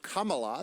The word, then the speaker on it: Kamala: joe biden has chosen his running mate senator kamala that's how you say it harris is joe